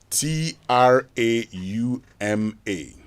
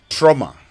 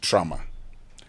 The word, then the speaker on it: trauma: Now, on Say It Right this morning, I want us to learn the pronunciation of this word. T R A U M A trauma and not trauma.